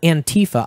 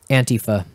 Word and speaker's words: antifa: what there should be an anti feh there antifa I I hate that we settled on that pronunciation han Tifa an tyfa there should be an app that's just like